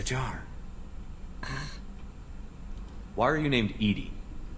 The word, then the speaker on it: EDI: why are you named edie edie is the phonetic pronunciation of edi that is an acronym for enhanced defense intelligence all right where are